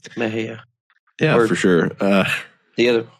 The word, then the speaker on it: Mexia: It's like Mejia. Yeah, you mean Mexia? That one just throws everybody off. You mean Mexia? Mexia? Mexia? Yeah, yeah, that's right. Yeah. But it's Mejia.